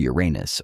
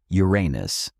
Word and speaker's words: Uranus: Now our internal odometer reads an 890 ft and we've just come up to Uranus or Uranus or Oranos, however you prefer to pronounce it. for the cosmos allows for many accents.